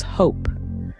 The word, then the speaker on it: hope: Silent E also works its magic in the word hop. Add an E at the end and it becomes hope.